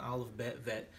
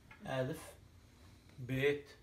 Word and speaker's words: Aleph Bet: alert in school because it's not olive bad vet that doesn't exist we're going to record a bit the way we know it traditionally alif be it whether it's or if we are we pronounce it as b that's a b m